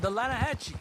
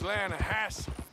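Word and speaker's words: Lannahechee: The Lanahatchee. It runs right near here. Yeah, but it's pronounced Lanahassee.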